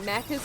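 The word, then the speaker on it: Maccas: Now you're remember, if you're remembering correctly, Mackers equals McDonald's. Yeah, except we spell it M A C C A S.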